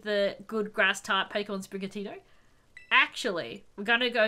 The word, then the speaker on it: Sprigatito: Okay, we're going with Sprigatito. Because I love all three of them. Spra. Dory! I pronounced it correctly, apparently.